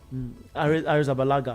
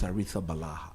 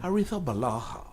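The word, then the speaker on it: Arrizabalaga: And Nathan said, "No, it's Aritha Balaha." So I took my time and got him to repeat it over and over again. And then I went online and I requested for the Spanish pronunciation of the name and it was clear. Artha Balah. Artha Balah.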